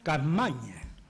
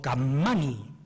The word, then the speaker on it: Capmany: Lo escribe un catalán, Antonio Capmany, o Capmany, pronúncienlo como quieran.